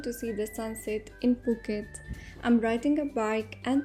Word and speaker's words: Phuket: So basically you pronounce it Puket.